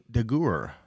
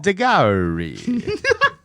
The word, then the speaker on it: Daguerre: French photographer Louis Daguerre. That ain't how you say it, but good. That was. It is. I even have it. That ain't French. Daguerre. No. Daguerre.